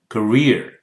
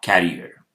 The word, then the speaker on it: career: Career, rear, career, not carrier.